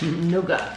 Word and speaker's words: nougat: That's how they say it, Nougat.